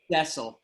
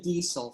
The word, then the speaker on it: Dessel: It's Dessel. Dessel. And I was going to say Diesel. So there you go. I was going to say it wrong.